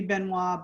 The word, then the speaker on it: Benoit: The French pronunciation should be Benoit, but it was Americanized a long time ago, actually Canadianized. And so it's pronounced Benoit. It's a married name, so don't be mad at me.